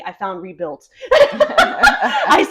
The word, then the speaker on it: Rebuil-T: Rebuilt. Rebuilt Healthcare. Rebuilt. Oh, see, I thought it was Rebuil-T. There's a colon between the L and the T.